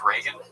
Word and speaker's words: Reagan: So I find I found the you want to impress white people part most interesting because you mispronounced Reagan. You were like I like Rean.